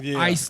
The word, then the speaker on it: Eisler: is like my name on everything. But people think it's spelled out. They think it's Eiler, Isler. I'm like, I had always put ICE to explain it was Eisler.